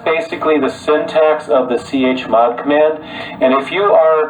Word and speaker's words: chmod: And chmod, or some people pronounce it shmod, basically stands for change mode.